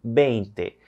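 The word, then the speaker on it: veinte: Pessoal, a letra V em espanhol, lembra? Tem o som de B. Então, nós vamos utilizar aí com esse sonzinho. Exemplo, a palavra 20. 20.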